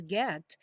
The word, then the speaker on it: get: Get by get by o t aí do get típico de consoante oclusiva não tem som não fala get get